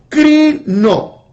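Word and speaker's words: κρίνω: La palabra juzgar su raíz etimológica viene de la palabra crino, así como lo escuchan, crino, K-R-I-N-O, crino.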